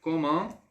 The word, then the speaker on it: comment: Você vai falar comment, não. Não. Comment, d'accord?